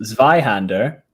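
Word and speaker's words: Zweihander: sorry sorry what if if you google zveyhander which is spelled z-w-e-i-h-a-n-d-e-r yeah it will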